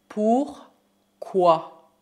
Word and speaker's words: pourquoi: Pourquoi? Pourquoi? Cuidado, lembro que a combinação O mais I forma o som WA. WA. Por exemplo, pourquoi apprends-tu le français?